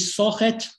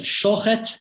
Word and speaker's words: Shochet: Here you see a Jew from the Russian Pale Settlement, Yudol Itzkevich Sochet, that is Shochet in the Lithuanian pronunciation, where Suz and Shuz are not clearly distinguished, becomes Yudol Shochet later in life.